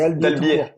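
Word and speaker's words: Albiez: Ouais, alors on prononce pas le Z, c'est Albier.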